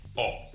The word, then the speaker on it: ho: An example, we got hotel and O. You can see there is no pronunciation for the H, just O.